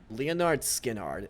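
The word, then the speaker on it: Lynyrd Skynyrd: It's pronounced Leonard Skinnard, and that's the band that wrote Oh.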